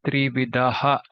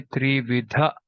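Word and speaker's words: त्रिविधः: Trividha, we don't say Trividaha, we say Trividha. That aha is just a little bit stressed, but we don't say the complete aha.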